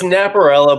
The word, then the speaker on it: Napierala: buddy of mine, Napierala. Is it Napierala? I always mispronounce that. I want to get it right this time. It's Napierala, but that's why I just go with Naps.